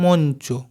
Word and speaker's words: মঞ্চ: আচ্ছা এরপর এটা দেখো মই চ আছে দেখতে পেয়েছো ইয় চয় তাহলে কি হবে যদি একসাথে উচ্চারণ করি মঞ্চ আবার দেখো এটা আছে